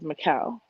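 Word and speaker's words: Micelle: my first name is mikael and it's spelled m-i-c-e-l-l-e it's like michelle without the huh um every job every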